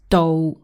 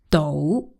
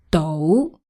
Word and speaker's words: 到: yeah, we say 到 So the sound changes in this case. Right. One more time, it's 到 not.